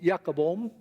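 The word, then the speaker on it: Jacob Boehme: His name is written as Jacob Boehm, but it's pronounced Jacobom.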